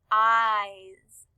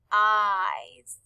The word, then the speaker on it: eyes: dog has blue eyes in the word eyes it is spelled e y e s the e y make the long i sound that says i and the e s says makes the z sound so when you put